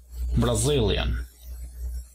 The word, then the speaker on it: Brazilian: Levantamos un poco en la segunda sílaba, Brazil, y tenemos la nacionalidad Brazilian. Luego tenemos a Canadá.